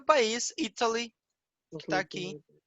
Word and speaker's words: Italy: Então, percebam que Italy, a sílaba tônica é no I, Italy, e I am Italian.